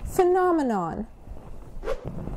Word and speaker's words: phenomenon: it apart now we we can break up this word in four syllables first of all the ph sound uh it makes an F sound it's a f so we have fomon the third syllable is a sh say with me phenomenon the Aurora Borealis is